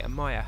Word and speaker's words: Amaya: So if we pop over, let's have a look at Amea first. Amaya. Oh, I should say Amaya.